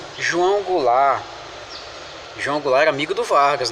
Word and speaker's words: Goulart: bom João vou lá vocês que falam inglês o termo no final nem pronuncia né João Goulart Então é só seguinte